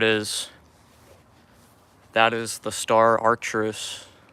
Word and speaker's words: Arcturus: I just pronounced Arcturus.